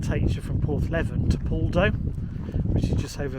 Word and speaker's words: Poldhu: It's not Poldhu, it's Poldhu. Apologies people.